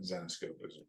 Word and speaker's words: Zenescope: And then everybody's like, now everybody's like Zenescope, or they don't know how to pronounce it, but Zenescope is essentially the name.